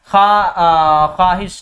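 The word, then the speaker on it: خواہش: से लिख सकते हैं ख्वाहिश, ठीक है, खा मतलब इस तरह से हम लोग बोलते हैं, प्रोनाउंसिएशन इस तरह से करते हैं ख्वाहिश, लेकिन लिखा जाता है इस तरह से ख्वाहिश, ठीक है।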